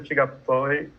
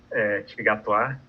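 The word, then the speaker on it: T'Gatoi: Interessante que quando eu fui ler o texto, Tigatoy, achei até bonito, como a Anne falou, né? Tigatoir, na pronúncia francesa.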